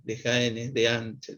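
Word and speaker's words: Dehaene: se escribe de h h n de jaén de an se pronuncia los que saben que él dice que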